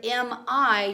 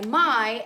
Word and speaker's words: mi: and what to say it's important to remember that these are not english syllables but they are an international phonetic sound so if you're looking at the word mi you're not going to say my as in that is mine right it will be